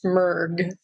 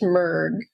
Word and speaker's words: Mrg: you my name is mg and it's just three letters m RG and it's pronounced mg so you aren't mishearing anything and kirsty's not mispronouncing anything it really is mg I'm a professional organizer